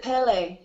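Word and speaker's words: Pelé: I say pillow Pele well I pronounce it Pele like a French like a French word I guess because you know it's like saying uh Pele but it's Pele Pele okay everybody says it different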